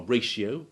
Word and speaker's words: ratio: it as in section among the rare exceptions are ratio and horatio which unlike ration and oration keep their i and o sounds distinct despite having the